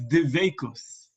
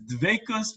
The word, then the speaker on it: dveikus: The two terms in Judaism, the first one is dveikus, or if you speak more with the Israeli pronunciation, you would say dveikut. I'm not used to saying that because in my yeshiva background, the Lithuanian, Eastern European yeshiva background, we said the t as a sa. So the way we pronounce it is dveikus, but you could say either dveikus or dveikut, however you'd like to say it.